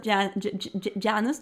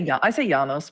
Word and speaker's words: Janus: Do you say Janus? Or I say Janos, but Janus. I think I don't really think it matters. I was going to say it differently, but now I realize it was very bad pronunciation.